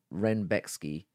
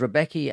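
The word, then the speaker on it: Rębecki: And this took us on to, now I had it pronounced Rebecca. I noticed that in the build-up, it was being pronounced as Renbecki, but I don't give a fuck. It's Rebecca. So it was Rebecca and Fiore at 155.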